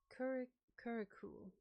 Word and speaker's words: curricle: I want to know how to pronounce this. Curricle, right?